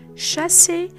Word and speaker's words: chassis: We say chassis to mean the frame of a vehicle, bourgeois